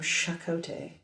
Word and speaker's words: Chakotay: in the village like insisted on pronouncing the CH as sh shot weird yeah I